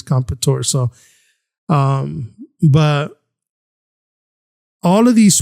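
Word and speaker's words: Comperatore: I did go and try to see how all the anchors and everyone else was pronouncing it, and I believe it's Competore.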